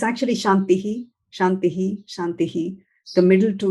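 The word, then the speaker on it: शान्तिः: the sound afterwards and only the last shantihi is pronounced fully because there is no sound afterwards so this is one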